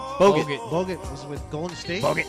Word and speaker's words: Bogut: How do you pronounce his name? Bogut.